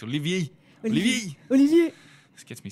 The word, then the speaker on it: Olivier: And he said, I was pronouncing it wrong anyway. It's Olivier.